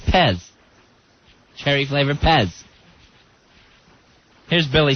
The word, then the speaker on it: Fez: who I am no does it uh does it rhyme with PEG no it doesn't rhymes with Pez cherry flavor Pez here's